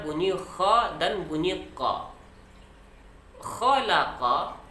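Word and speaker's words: خلق: Khalaqa, huruf pertamanya adalah kha. Kemudian ada la dan qa. Banyak juga yang kita dengar membacanya dengan khalaqa. Sama saja bunyi antara kha dengan qa. Jadi mesti kita bedakan kha, kha, la, qa. Kha, la, qa. Jangan dibaca qalaqa. Berarti dua-duanya kita buat menjadi huruf qaf.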